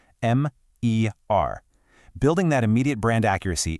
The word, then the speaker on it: MER: It's pronounced M-E-R, Connect. You really want to clearly enunciate each individual letter, right? M-E-R.